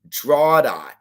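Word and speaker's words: Drogheda: Remember, it's pronounced Drada. Okay, Drada.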